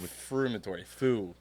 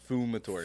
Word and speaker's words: Fumatori: Not Frumatori. Fumatori. Fumatory. You said it, you. No. Yeah. Fu, not fru. Fu.